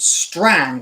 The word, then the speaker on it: Strange: become known as Lord Strang, or Strange, as we read it today. Strange got an E on the end, but it would have been pronounced Strang, Lord Strang.